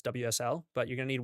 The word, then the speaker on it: WSL: If you're on Windows, you're going to need Weasel. It's not actually pronounced that, it's WSL, but you're going to need Windows subsystem for Linux in order to do the Linux stuff.